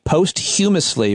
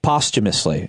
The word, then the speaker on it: posthumously: wrong on live radio I said uh post humorously but it's uh uh posthumously is how it's pronounced yes but I I